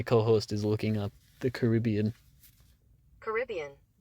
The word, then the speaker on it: Caribbean: Where today I will be reviewing Pirates of the Caribbean on Strangers.